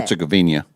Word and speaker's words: Herzegovina: How do you say it? Herzegovina. Yes, that one.